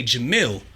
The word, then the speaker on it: Jamel: was like and and on the record you'll hear me say jam only because that's how it's originally pronounced right right you know although my name is Jamal that's how the Western culture pronounced it but everything I was